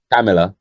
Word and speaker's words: Kamala: What I can't pronounce her name still. Kamala, Kamala.